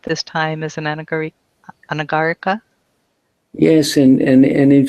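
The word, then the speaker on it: anagarika: You're stressing the wrong syllable. Oh, I'm sorry. Anagar ana. Yeah. Anagara. Anagar. Anagara. Latin has the same rule. Latin it's the penultimate syllable if it's long.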